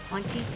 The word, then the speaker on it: Hauntii: It's spelled Hauntii, Haunty, so look that one up if you got Steam.